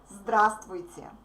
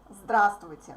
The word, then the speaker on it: здравствуйте: We don't pronounce V in the middle.